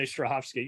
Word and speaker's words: Strahovski: But then there's Chuck with Zach Levy in, how do you pronounce, Yvonne Strahovski? Yvonne Strahovski.